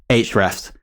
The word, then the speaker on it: Ahrefs: our insanely great sponsor, Ahrefs, or Ahrefs, as the name should be pronounced.